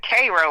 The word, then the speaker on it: Cairo: It's actually they pronounce it Cro like the ser.